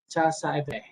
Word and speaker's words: CASVE: The CASVE cycle, pronounced CASVE, is used as an overarching heuristic to structure to career process.